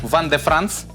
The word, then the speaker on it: Vin de France: На этикетке у нас написано «Ван де Франс», да, что означает французское вино, пишется «Вин де Франс».